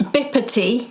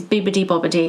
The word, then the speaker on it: Bibbidi-Bobbidi: Bippity. No, like a P or a B. Yeah. But it is, according to Wikipedia, it's Bibbidi Bobbidi. And when you look at the song lyrics as well, it's spelled that way.